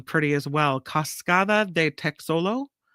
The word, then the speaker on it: Texolo: Cascada de Texolo. You pronounce the X in Espanol. Cascada de Texolo waterfall.